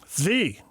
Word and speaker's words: Svi: I think a kid like Sieve, is that how you say it? Zvi.